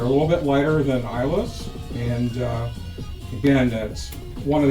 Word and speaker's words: Islay: So if you can point Isla on the main map, and then we can go to the next page.